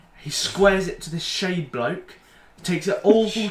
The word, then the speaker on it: Schade: He squares it to this Shade bloke. Takes it all full touch. Yeah, I can't pronounce his name in German. Schade. Oh. It's spelled Shade.